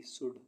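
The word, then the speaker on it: should: चौक चौक मीस खड़िया एस एच ओ यू एल डी शुड शुड मीस चाहिए सी ओ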